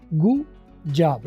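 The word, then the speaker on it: good job: तो गुड जॉब में आप देखें, गुड जॉब, डी और जे जब आपस में कन्फ्लिक्टिंग साउंड्स है थोड़ी थी, तो ऐसे में आप डी की आवाज़ साइलेंट कर देंगे और इनको आपस में रिड्यूस करके बोलेंगे गुड जॉब। गुड जॉब की बजाय गुड जॉब, गु जॉब, डी साइलेंट होके गु जो है वो जॉब के साथ मिल गया।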